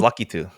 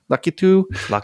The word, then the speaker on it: Lakitu: It is how is it pronounced, Jaron? You're the gamer. Lakitu, Jordan? I thought it was Lucky Two. Lakitu.